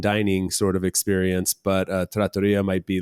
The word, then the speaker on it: trattoria: So trattoria is the also I always pronounce that in my head trattoria. It's trattoria.